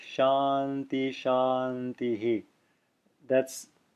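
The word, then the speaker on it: शान्तिः: see my mouth here it should be spoken at like this Shanti Shanti Shanti so you're hearing a clear voice argA echo of the preceding vowel on each of the three shanti shanti shanti shanti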